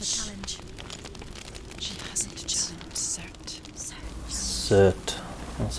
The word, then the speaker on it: Surt: Cert. That's how you pronounce it.